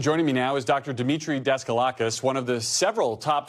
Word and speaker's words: Demetre Daskalakis: Demetre Daskalakis, one of the several top CDC officials who resigned in protest last month following Dr.